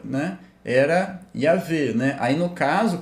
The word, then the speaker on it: Yahweh: a pronúncia, né, era Yahvé, né? Aí no caso, como, né, antigamente provavelmente era W e não V, né? Então Yahweh, né?